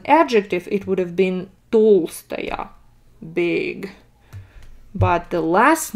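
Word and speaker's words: Толстая: it's like that but if it's a woman natalia dolce here this ah would be stressed so if it's an adjective it would have been tolstaya big but the last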